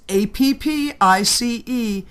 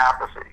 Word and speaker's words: Appice: Now, the project is Appice. Now, is it being pronounced Appice or Appice?